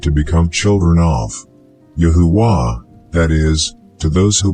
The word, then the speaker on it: YaHuWaH: In the previous video I already gave you the explanation of why it is pronounced Yahuwah with a feminine ending.